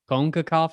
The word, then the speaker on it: CONCACAF: stupid anyway i believe i believe white people call it concacaf it sounds better when i say it like that or do i sound like sean connery konkakov maybe a little bit i actually like it